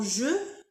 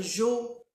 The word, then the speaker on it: je: Alors ici dans je, il faut respecter euh le son e je faut pas dire jo ou j.